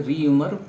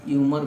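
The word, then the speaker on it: Réaumur: इसको कहीं कहीं पर यूमर भी आपको देखने को मिलेगा। ये प्रोनाउंसिएशन का अपना अलग अलग है, लेकिन कुछ भी जो है ठीक है, यूमर भी ठीक है और रीयूमर भी ठीक है।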